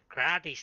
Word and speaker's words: gratis: Scottish people over there, they like to say uh, Grady, Grady's, Gratis. They cannot even say it. It's pronounced gratis, and that's actually mean free.